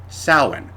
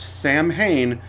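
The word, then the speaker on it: Samhain: Spain uh and they celebrated a holiday called Salin no that is not pronounced Sam Hayne the Celtic languages did not have a written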